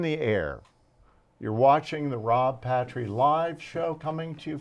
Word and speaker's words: Patry: I get pastry, party, putrid, paltry. It's Patry. Very simple.